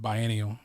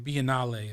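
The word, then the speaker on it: Biennale: I used to call it bianial. You know what I'm saying? The bianale is how they say it, right?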